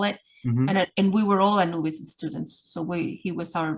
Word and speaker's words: Anubis: And she's trying to pronounce his name, Anubi. And I was like, Anubis? And she's like, yes, he's here.